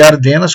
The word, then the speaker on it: Ardennes: A linha totalizava 200 quilômetros desde a fronteira com a Suíça até a floresta de Ardennes, ou de Ardenas, como alguns pronunciam, na Bélgica.